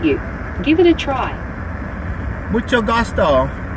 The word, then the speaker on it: mucho gusto: Mucho gusto. Close. It's mucho gusto, with a CH sound like in chocolate. You almost had it. Mucho chocolate. No, mucho gusto. Chocolate. I like chocolate. That's it. Mucho gusto.